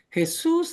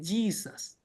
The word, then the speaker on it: Jesús: Así que Jesús es desde México hasta la Patagonia. Acá en Gringolandia, en el país de las hamburguesas, se dice Jesus, ¿ok? Y se escribe igual, pero se pronuncia Jesus, ¿sí ven?